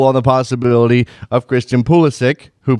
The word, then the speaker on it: Pulisic: everybody can exhale on the possibility of Christian pulisic who pronounces his name that way because he's American